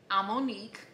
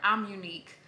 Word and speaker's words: Amonique: So guys, I was watching Kyra Amonique, or I think she pronounces it Kyra, I'm Unique.